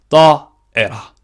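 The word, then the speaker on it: طائرة: 그래서 두 개 다 알아두시는 게 좋을 것 같고, 2번, 이거는 뭐, 따에라. 따에라. 이렇게 해야 되겠죠. 따이라가 아니에요. 따에라. 이렇게 해야 됩니다. 발음이 좀 어렵죠.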